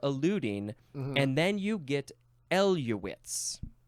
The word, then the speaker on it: eluate: The next word is eluate or eluate. It is spelled E-L-U-A-T-E, noun from 1932.